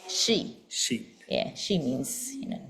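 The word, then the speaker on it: 四: the pronunciation yeah pronunciation then number four we pronounce it y y or we also say she she yeah she means you know death yes so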